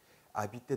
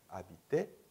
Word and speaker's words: habiter: habiter 동사도 마찬가지예요. habiter, R 발음하지 않아요.